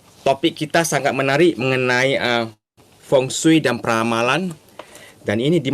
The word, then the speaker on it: Feng Shui: Feng Shui ya, ditulis Feng Shui dibacanya Feng Shui.